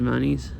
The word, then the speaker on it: Des Moines: Don't some people say instead of Des Moines, they say like Des Moines or something? I feel like maybe I've heard some local people call it that. I don't know I don't know if I'm pronouncing it right or not. Like they almost say Moines, like money or something.